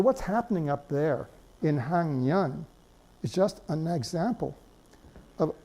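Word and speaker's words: 학년: That's also a very general rule of Korean phonology, that the K is pronounced eng in front of a nasal sound.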